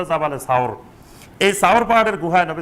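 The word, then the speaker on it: جبل ثور: জি সাওর সাওর পাহাড়ে সাওর পাহাড়ের এখন যেটা জাবালে সুর বলে জাবালে নূর আর জাবালে সুর এই জাবালে সুর বা এটা শুদ্ধ উচ্চারণ হল জাবালে সাওর এই সাওর পাহাড়ের গুহায়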